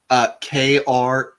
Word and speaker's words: Kraagh: Oh, I would not have guessed that third A. That sounds so The third A Klingon. is silent. The third A is silent. The second A, very much emphasized, but the third one's silent.